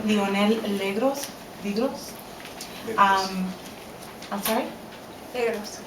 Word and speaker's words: Legros: Legros. Legros. The S is silent.